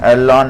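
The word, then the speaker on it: ln: তো আমরা উভয় পক্ষে লোন নিব, এলএন লগারিদমিক লোন আমরা এমনি উচ্চারণ করি তাই।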